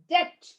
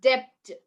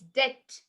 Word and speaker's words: debt: few other words which i've written down it's debt it's it's not debt okay it's debt he says and you also say doubt right